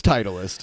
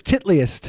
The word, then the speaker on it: Titleist: okay guys the golf cap titleist titleist it's titleist is it pronounced titleist yeah i thought it was titliest of course you would look at trump